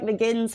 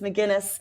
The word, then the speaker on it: McGuinness: It's because it looked like McGinn's from here, but it's McGuinness.